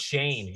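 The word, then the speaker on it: Schoen: The new regime, and like JQ said, how do you pronounce his last name? It's Shane, like Shane, but it's okay, Joe Shane, yeah, and head coach Brian Dubal, however you say it.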